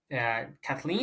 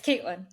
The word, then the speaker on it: Caitlin: I'm going to go with Kathleen. Is that how I pronounce it? Yeah, it's Caitlin. Caitlin.